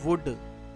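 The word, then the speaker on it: would: लिए इस्तेमाल होता है डब्लू ओ यू एल डी वुड ये वुड है इसमें एल साइलेंट है होने वाला यह फ्यूचर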